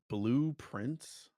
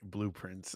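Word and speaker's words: Blue Prince: Blueprints. I get the idea. Blueprints. I understand now. But it's spelled for people listening, blue and prince, like the son of a king, prince.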